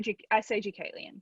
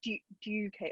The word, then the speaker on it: Deucalion: I say Hotel Deucalion. How do you? Yes, I say Deucalion. Yeah. So I say Deucalion, like it with slightly. I know that's, you say it in a much more North American way, but entirely correctly.